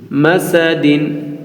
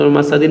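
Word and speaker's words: مسد: scene জবর সাল দিন মাসাদিন মিমমাসাদিন কিন্তু মাসাদিন বলবো না বলব মাসাদ দা উপরে সাকিন দিব ফিজিদিহা হাবুমিমাসাদ হাবুমিমাসাদ আমরা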